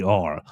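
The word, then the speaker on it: Lotzeir Brooks: The T is silent on the pronunciation guide.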